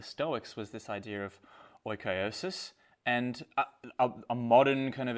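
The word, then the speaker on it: oikeiosis: I was looking forward to using the word oikiosis. Did I pronounce that properly? I believe so, yeah. Oikiosis, yeah.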